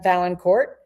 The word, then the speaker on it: Valancourt: So on each of my right and left right here, I have Alissa and Newman and Anna Valancourt. I pronounced it right, yes?